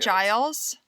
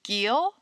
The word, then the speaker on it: Giles: of giles cory yes is that how you pronounce it giles yes okay i was reading it as gill nope okay that way i